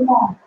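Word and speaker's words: know: से शुरू होती है, लेकिन जब हम इसका उच्चारण करते हैं तो के की आवाज साइलेंट रहती है तो हम इसको नो नहीं बोलेंगे, क्या बोलेंगे नो बोलेंगे, क्या बोलेंगे नो बोलेंगे।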